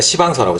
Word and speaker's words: 시방서: 그런 것들은 꼼꼼하게 다 이렇게, 그걸 이제 우리가 시방서라고, 시방서, 발음을 좀 이상하게 너무 세게 하면 안 돼요.